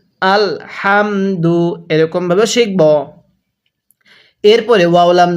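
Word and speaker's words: الْحَمْدُ: আল হা মিন জবর হাম দাল পেশ দু আল হামদু এরকম ভাবে শিখবো এরপরেও লাম জবর ওয়াল ফা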